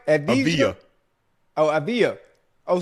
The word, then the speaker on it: Avdija: Avdija. Oh, Avdija? Oh, so the D silent? Yeah.